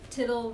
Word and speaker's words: Tittle: Tittle rhymes with little.